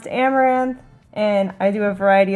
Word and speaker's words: Amouranth: My stream name is pronounced Amouranth, and I do a variety of things.